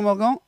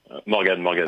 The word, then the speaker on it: Morgan: Voilà, on peut prononcer les deux, mais je vais dire Morgane. Il n'y a pas de e à Ok, la fin. C'est le prénom masculin de Morgane au féminin, mais Morgan.